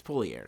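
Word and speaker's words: Poilievre: Pierre poer uh poier I still cannot pronounce his name correctly Pierre poer P it's not poer it's poier whatever we're going to say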